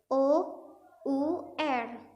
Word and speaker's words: hour: hour an hour tapi tulisannya h o u r itu kan huruf konsonan toh Tapi menggunakan tidak menggunakan e karena cara bacanya itu our kayak huruf vokal kan itu kayak huruf